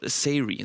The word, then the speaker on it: Sayri: We saw some puzzle gameplay, a little bit of jump and run, and it's called Sayri. That's how you pronounce it.